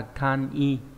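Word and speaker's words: 簡易: Ví dụ cô eki là chữ giao, chữ dịch thì đọc là eki, nhưng mà giản dị sẽ là kan i.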